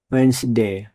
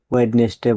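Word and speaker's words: Wednesday: ডাব্লিউ ই ডি এন ই এস ডি এ ওয়াই ওয়েন্সডে মানে বুধবার। এখানেও ডি লেটারটি silent থাকবে। আমরা অনেকে ভুল করে ওয়েডনেসডে বলি, এটা ভুল উচ্চারণ।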